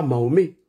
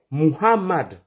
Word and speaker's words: Mohammad: Il s'appelle pas Mahomé. Mahomé c'est un vendeur d'acheké. Il est à Trèjeville. Si tu le cherches, tu le trouves là-bas. Le prophète de l'islam s'appelle Mohammad comme de la manière vous prononcez le nom de Mohammad Ali.